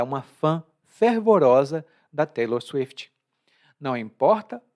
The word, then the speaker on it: fervorosa: Quando é o plural ou a forma feminina, não é mais fervoroso, mas sim fervorosos ou fervorosa. O O abre um pouco.